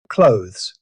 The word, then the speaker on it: clothes: Clothes. This word can be tricky. Although it's spelled with th, most native speakers simplify it to clothes. The th sound usually disappears completely.